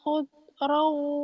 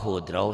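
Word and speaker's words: خُضْرٌ: Aliyahum siyabu sundusin khudru wa istabrak. Kok khudrau sih? Khudru ya. Khudru. Khudru. Idgham biguna ke situ. Khudru ya. Bacanya ro ya barusan ya. Tadi khudrau.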